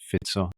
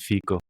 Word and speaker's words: Fico: long time until I understood his name is pronounced fito and not FICO well there is actually a Robert FICO in